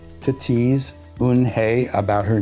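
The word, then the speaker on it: Unhei: It's a story about a young Korean girl who immigrates to the United States, and her name is spelled U-N-H-E-I and actually pronounced Un-Hei.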